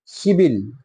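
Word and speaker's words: 십일: হবে আপনার শিব ইল শিবিল 11 হবে শিবিল অর্থাৎ এই শিবের সাথে আপনার এক যোগ করে দিবেন তাহলে শিব যোগ ইল উচ্চারণ হবে শিবিল এভাবে তাহলে আপনি যদি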